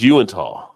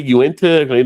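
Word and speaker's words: Yuengling: yeah but it's like the actual name is Yu yeah but people like can I get a uent like there's actually U it's like named after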